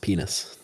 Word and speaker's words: Pinas: I have Googled it, and his name is pronounced Pynoos.